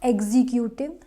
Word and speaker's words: executive: next word is executive executive not executive no this is executive second syllable is stressed here and now second